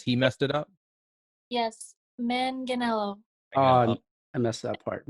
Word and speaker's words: Manganiello: our first mixed filipina guest please welcome claudia mangelo hello you just told me too and i messed it up it's too long could you pronounce it for us then since he messed it up yes manganello ah i messed that part manganello sorry yeah